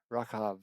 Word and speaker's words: Rachav: Matthew, verse 5, and it's spelled as with an R-A-C-H-A-V, Rachav, with a V on the end. And it's pronounced as Rachav, which, what an amazing